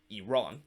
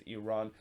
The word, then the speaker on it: Iran: because of the, well, not Iran, but Iran. I always, when I see the word Iran, I always want to say that, but it's actually, the correct pronunciation is Iran.